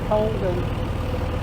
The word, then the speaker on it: Cauldon: I think it is pronounced locals, obviously Colden.